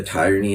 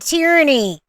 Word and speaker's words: tyranny: just say to the Tyranny and oppression what kind of Guru are you that you don't know how to say the word tyranny it's not tyranny it's tyranny you know it's pretty much